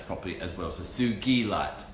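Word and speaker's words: sugilite: crystal named after me I would want to pronounce properly as well as a suji light not like D as in geese not sugar light or cycle I threw out that it's got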